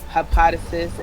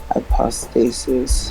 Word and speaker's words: hypostasis: Number four, things essentially incorporeal are not present with bodies, but hypothesis and essence. Hypothesis, hypostasis.